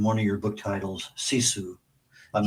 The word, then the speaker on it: sisu: You use a word in one of your book titles, sisu. I'm not sure if I'm pronouncing that correctly. Perfect. Uh tell us about that word. Yeah, so sisu is such an important Finnish concept.